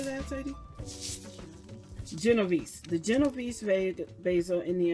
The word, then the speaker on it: Genovese: Genovese.